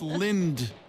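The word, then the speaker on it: Lindt: chocolate lint gold bunny Lind I'm sorry is l l n DT how do you say that Lind chocolate I don't know but yeah Lind doesn't sound very appetizing I no it's Lind Lind Lind Lind Lind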